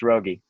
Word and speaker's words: Raugi: fabulous rogue eu uh if i'm pronouncing your name wrong you know this is your chance to let me know about that no that's it it's rogie and uh we looked